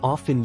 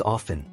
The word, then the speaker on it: often: it is pronounced as often usually mispronounced as often the T in often is traditionally silent in American English however pronouncing it with